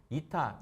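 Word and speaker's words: η: 우리 이타, 요걸 이타라고 읽어요.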